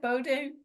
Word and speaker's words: Bowdoin: from Bowden is that how to say it Bowden College it is yes okay great in Brunswick